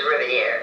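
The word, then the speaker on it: Rivière: Petite River Rivier they pronounced it was Rivier if you're going to be you know the French pronunciation down on the southshore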